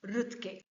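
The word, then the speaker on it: Roethke: by Theodor rut see the pronunciation is Theodor rut Theodor rut was born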